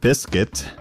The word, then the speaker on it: Bisket: on uh yeah so you befriend um uh biscuit which is how you'll now lovingly refer to him it's spelled b-i-s-k-i-t Biscuit the pets